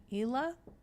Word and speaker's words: Ila: It's pronounced Ila. Ila or Isla.